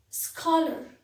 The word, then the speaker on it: scholar: repair my television scholar scholar ch again it is pronounced as ker there is a competition